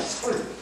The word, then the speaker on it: 설: 설. 근데 이 사람 이름을 이렇게 써요. 이상설이가 이런 설자 쓰시던가. 설. 이걸 설이라고 읽어요.